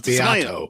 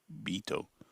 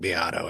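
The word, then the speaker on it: Beato: they called him Rick Bito. Well, pronounced Rick Biato. It really is.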